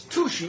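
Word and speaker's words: Touchet: It's Tushy is what it is. Oh, touche. I know, instead of touche.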